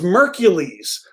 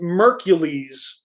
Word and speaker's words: Mercules: it Rhymes oh okay it rhymes with Hercules so it's mercules oh thank you ninja with the pencil coming through the pronunciation so it's mercules featuring Bone Thugs in